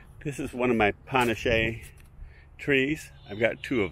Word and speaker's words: Panachee: punish a to Ric remember now it's punish a not panache and it should be